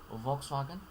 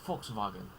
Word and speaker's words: Volkswagen: Volkswagen, the common anglicized pronunciation, and then there's Volkswagen. Again, Volkswagen. Don't pronounce the L in either case.